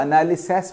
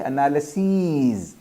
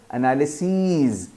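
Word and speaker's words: analyses: SES कर देता है, मगर कई लोग जिनको प्रोनाउंसिएशंस नहीं पता होती उसको एनालिसिस पढ़ते हैं, नहीं एनालिसीज, एनालिसिस, एनालिसीज, ठीक है।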